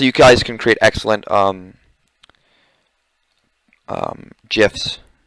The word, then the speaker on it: GIF: Also, you guys can create excellent GIFs. It is GIF, by the way. The creator said it's pronounced GIF. It's not GIF.